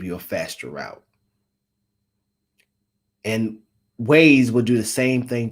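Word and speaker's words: Waze: then you got ways which I call Wy because it's spelled w a z so I always thought it was Wy and then my girlfriend like no was ways I'm like why the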